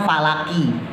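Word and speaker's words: فلق: Qul audzubirabbil Falaq itu tulisannya falaqi ya tulisannya falaqi qnya pakai asrah ya qulubabbil falaqi tulisannya falaqi nah dibacanya tetap Falaq cuman cara bacanya ketika di akhir maka qolqolahnya pantulannya penuh ya cara baca qolqolah ada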